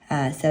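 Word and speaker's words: σύ: Let's see if this has any kind of, so it's S-Y, but it's pronounced so, and it's just you.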